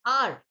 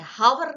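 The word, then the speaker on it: hour: क्योंकि एच का साउंड यहां पर साइलेंट है। हावर नहीं बोलते। हम क्या बोलते हैं? ओ से शुरू करते हैं।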